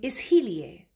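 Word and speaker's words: इसलिए: Tum isliye, right? Do you hear that? Isliye. There's like a emphasis on he.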